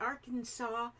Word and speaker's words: Arkansas: end of Kansas but Arkansas is is spiled like Kansas but with an arc in the front and you don't say the S I don't understand what's